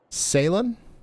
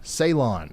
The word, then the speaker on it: Ceylon: Salem? But yeah, it's north of Dolliver here in Martin County, Minnesota. You guys want to get indoors and away from windows. Ceylon. All right. Ceylon.